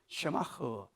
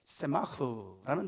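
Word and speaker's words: שָׂמַח: 샤마흐, 사하고 세하고 중간 발음입니다. 사쇠, 세마흐라는 히브리어를 써요.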